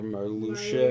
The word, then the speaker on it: Marluxia: That's how Marluxia is pronounced? Get the fuck out of here, Marluxia.